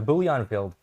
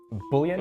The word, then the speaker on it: Bullion: So how would you pronounce it? Bullion? Just Bullion.